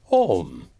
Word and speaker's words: Om: Om is simply pronounced Om.